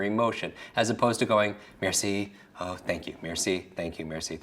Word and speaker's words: merci: Just break it down into syllables. Mare. What's a mare? Like a female horse, right? So C, for me, Maybe the mare is in the sea, right?